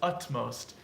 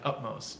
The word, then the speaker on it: utmost: it's of upmost upmost it looks like I'm almost saying with a P up most but its utmost but it sounds like utmost just because the M is coming next so you have to like anticipated up up most it's of utmost importance